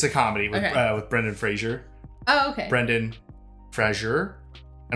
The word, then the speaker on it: Fraser: his last name yeah it's not Fraser yeah yeah I think everyone's always thought it was Frasier yeah it's not so